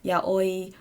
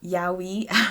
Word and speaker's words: yaoi: to the creation of yaoi or yaoi as we english people pronounce it and also yuri